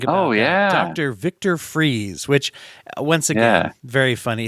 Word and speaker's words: Fries: oh yeah Dr Victor freeze which once again very funny his name is spelled more like fries I think but it's pronounced freeze once again one of